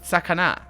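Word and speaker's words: さかな: See, that's pronounced in English sakana, but it's sakana. I'm pretty sure. And also the S has got a very specific Japanese way of saying the S.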